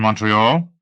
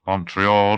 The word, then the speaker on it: Montreal: "So it has two pronunciations, totally different with respect to all three vowels. The O is short to English-speaking Canadians, long to French-speaking Canadians. The E is a long E to the English, a long A to the French.